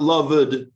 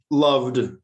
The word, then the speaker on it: loved: cooked one syllable two it's not lovely it's one syllable um loved but with ed you